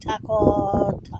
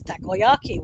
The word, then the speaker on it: takoyaki: When you see the word for the first time, you're like taco. You don't know how to pronounce it. So it took me a while to learn how to pronounce it as takoyaki, which are octopus balls,